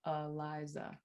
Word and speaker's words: Eliza: I too, when I pronounce my own name, I use a schwa in the first and last syllable. So I say Eliza.